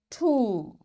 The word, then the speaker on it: tomb: B will be silent we will say com tomb bomb thumb climb and lamb in all these words you can see B is silent.